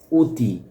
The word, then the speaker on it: অতি: আবার এখানে আছে অতি। অর উচ্চারণ এখানে ও এর মত হচ্ছে।